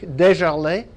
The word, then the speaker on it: Desjarlais: is my name is Desjarlais it pronounces as it spells and I'm a Canadian